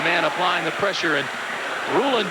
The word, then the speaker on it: Rulon: Rulon Jones was the man applying the pressure, and Rulon Jones prefers his first name pronounced Rulon. Sometimes you hear it Rulon Jones, but he said it's Rulon.